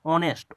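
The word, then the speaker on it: honest: हो गया तो ओ से शुरू होता है, ऑनेस्ट, ऑनेस्ट, ओ से आप जैसे ही शुरू करते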